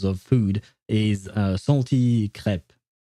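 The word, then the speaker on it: crêpe: Uh so just so you know, we pronounce it crepe and I do believe that uh these crepe are French. So I will go with the French name for them because I don't want to call them creeps.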